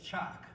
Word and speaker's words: Chalk: My name is Chalk Yearwood. Your sons always say it wrong. It's Chalk.